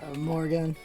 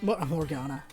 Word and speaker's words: Morgana: Morgan. So Morgan is my first... Morgana. I did her name wrong.